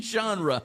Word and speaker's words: genre: You've got a Z in the pronunciation with that one though. You said uh genre. Look how it says Z H O N. Genre.